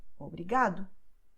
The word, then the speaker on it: obrigado: have these endings, and therefore they will be stressed in the second to last syllable, like obrigada, tarde, obrigado.